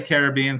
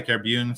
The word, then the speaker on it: Caribbean: Some people say Caribbean, some people say Caribbean, some people say Caribbean. I say Caribbean.